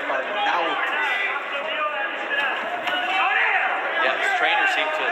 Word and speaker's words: Arnaoutis: We hear Arnaoutis, Arnaoutis. It's Arnaoutis.